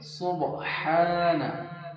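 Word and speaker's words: سبحان: এখানে অনেকে ভুল করে। কি ভুল করে? সুবহানা। সুবহানা অনেকে এখানে টানা দেয় না। আবার অনেকে এখানে ছোট হা উচ্চারণ করে এখানে বড় হা আছে মুখ দিয়ে হালকা বাতাস বার হবে সুবহানা এক আলিফ টান হবে সুবহানা রব্বিয়াল আজিম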